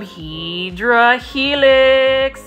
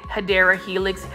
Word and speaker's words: Hedera helix: Like for me, I love me some Hydra Helix. And for those that are new to my channel, I call the English ivy, which is the correct way to say it, Hedera Helix.